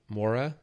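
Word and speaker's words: Moura: How do you say his last name that Mora Mora?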